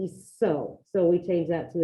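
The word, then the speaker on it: hizo: Well, now we got to change the C to a Z because we don't want the cut. Otherwise, I have ise, isiste, eco. I don't want eco. I need iso.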